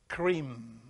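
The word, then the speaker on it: Krim: in Sanskrit there is a mantra that you pronounce when you eat is k-r-i-m cream in order to take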